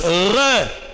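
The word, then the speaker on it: roeh: Ces voyants, en hébreu on dit on écrit R-O-E-H, R-O-E-H. On prononce re en hébreu.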